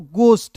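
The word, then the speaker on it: ghost: जी ओ एस टी को पढ़ेंगे दोस्तों घोस्ट।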